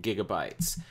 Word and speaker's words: gigabyte: Just a note, it is pronounced gigabyte with a hard G like growl or go, not a soft G like gosh or groan or gigawatt, as in 1.21 gigawatts from Back to the Future.